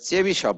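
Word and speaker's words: Chebyshev: আমি জানিনা হয়তো উনি রাসায়ান কেউ হবেন এটা চেবিশপ বলে উচ্চারণটা চেবিশপ আমি উচ্চারণটা লিখে রাখছিলাম দেখ চেবিশপ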